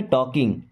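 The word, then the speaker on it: talking: काम करते रहना टॉकिंग यहां पर एल साइलेंट क्या पढ़ेंगे टॉकिंग just keep टॉकिंग means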